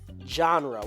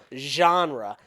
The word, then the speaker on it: genre: how I pronounce it genre with a little bit of a j hint in there she pronounces it genre which I [ __